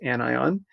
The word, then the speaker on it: anion: A sodium hydride anion, that's how you pronounce this, anion, has one extra electron.